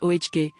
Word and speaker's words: Oge: Her name was Oge, pronounced Ohge, and she commanded her corner of the market like a queen holding court.